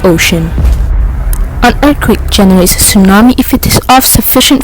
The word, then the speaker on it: tsunami: Tsunami, pronounced as tsunami, is a Japanese word.